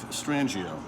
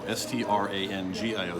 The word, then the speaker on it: Strangio: But if you want to find out more about me, my website, just, honestly, just search Strangio. My last name is spelled S-T-R-A-N-G-I-O. S-T-R-A-N-G-I-O.